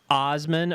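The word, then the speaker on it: Assman: get the vanity plate so it's apparently it's pronounced Osman OSS M en but it's spell a SS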